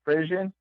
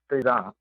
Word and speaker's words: frisson: There's probably a couple ways to say it. I pronounce it Frisson because I like to say it Frisson. Okay. But I think actually it's a French word, so they pronounce it Frisson.